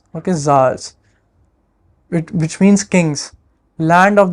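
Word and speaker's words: tsars: was called the land of SARS it is pronounced at Zars okay Zars which means Kings Land of the Rising Sun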